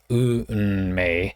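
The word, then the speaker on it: 運命: The idea here is that the Unmei is 2 syllables, but Japanese is very consonant vowel, very regularized like that.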